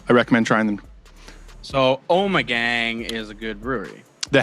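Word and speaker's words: Ommegang: out too she that's the first thing that the the Brewers said was oh my gang I've been saying it wrong this whole time yeah I've been saying I'm gang um last year we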